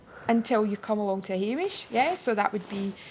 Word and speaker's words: Hameish: hish so it's so the hamish is spelled h a m e- i sh so I think in many ways because we like anish yeah most things are